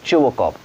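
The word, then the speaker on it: Chubukov: चुबोकॉव, ध्यान से प्रोनाउंस करिएगा, इसमें टी साइलेंट होंगे, ठीक है, और एस भी साइलेंट होंगे, और इसका प्रोनाउंसिएशन है चुबोकॉव।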